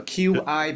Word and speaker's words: qi: So that's why they're called chi. Yes, chi, you call it chi. It's a chi coil, QICOIL. Is that correct? So QI, because in Chinese, qi is spelled with QI.